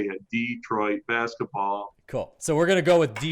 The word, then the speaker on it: Detroit: Mike, is it Detroit or Detroit? A lot of people pronounce it a lot of different ways, but I say Detroit, Michigan, Okay, cool. Kind of like Detroit basketball, there you go.